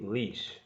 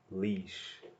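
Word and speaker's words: Laois: the third word so we're now in County leash that's that's how this is pronounced County leash Port Arlington Port Arlington takes its name from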